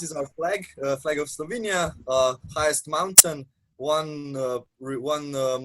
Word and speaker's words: Slovenia: you from um i'm from slovenia so we pronounce it slovenia um it's frequently mixed with slovakia yeah abroad